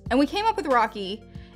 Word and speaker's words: Rochie: we came up with rocky it is spelled r-o-c-h-i-e i know that's like people but rochi rachie rushy i like weird spellings